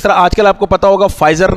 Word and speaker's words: Pfizer: Vaccine बनाई है और फाइजर पी से लिखा जाता है, PFIZER, तो पी पढ़ते नहीं है फाइजर हम पढ़ते हैं, तो आप देख सकते हैं कि पी साइलेंट है बहरहाल।